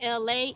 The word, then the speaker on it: Elay: hey what's up is me Elay pronounced like L.A. like the city I'm not the from